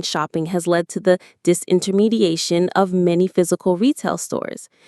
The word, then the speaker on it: disintermediation: is a process called disintermediation. This is a very advanced but very important business and technology term. Disintermediation. Disintermediation. It's another long one. The main stress is on that a syllable near the end.